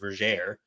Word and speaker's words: Vergere: about, in Destiny's Way, Vergere, it's actually pronounced Vergere. Is it really? Onimi makes a rhyme that rhymes air with Vergere, and it's all actually rhyming, so it has to be Vergere.